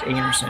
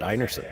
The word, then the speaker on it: Einarson: But even Kerri's last name is pronounced Einarson, and we sometimes get a little guilty. Amazing, it's going to Einarson, so we'll try to be better. That one I did know, but I've met people with the same last name, spelt the same way, and they pronounced it Einarson.